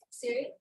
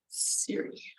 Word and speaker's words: Ziri: Ziri? Did I say it right? Say it again? Siri? At Siri? Yeah. So it's like a C sound. Siri. Or like iPhone Siri, right? Kind of sounds like that at Siri.